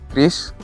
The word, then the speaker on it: QRIS: Soalnya biasanya namanya anak-anak nyebutnya QRIS. QRIS. Nah, ya QRIS. Padahal bacanya Kris.